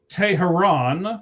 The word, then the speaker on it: Teheran: So, Julio Teheran is how you actually say it. It's Tehran. No, it's Tehran. No. It is. Look how it's spelled, Shees. Look at the notes. Look how it's spelled. Everybody says Tehran. It's not Tehran. That's why I said it that way. It's Teheran. It's Teheran. Doesn't matter.